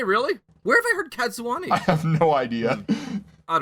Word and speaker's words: Cadsuane: here, the introduction of Cadsuane. Or Cadswain. How do you pronounce that one? Did you just say Cadswane? Cadsuane. It sounds like Japanese, doesn't it? It's Cadswain.